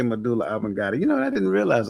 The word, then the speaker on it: medulla oblongata: Medulla oblongata. You did. D, You did say medulla oblongata.